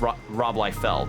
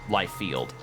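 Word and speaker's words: Rolfield: the name is spelled r o l i e like lie and then f e l d it's Rob lield not not Li field I'll put it so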